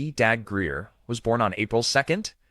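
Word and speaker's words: Dabbs Greer: Robert William Dabs Greer, pronounced Dag Greer, was born on April 2nd, 1917 in Fair View, Missouri.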